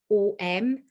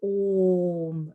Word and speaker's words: om: om is sometimes written o m the pronunciation is a u m so it's a it's a softer sound it's an oom rather than an om so oh so i'm